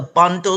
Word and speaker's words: Bondo: Now, just for the audience um benefit, I you mentioned the Bondo Society um and that is spelled b o n b like boy o